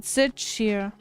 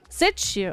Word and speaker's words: Zitchir: You pronounce it Zitchir. Zitchir, okay.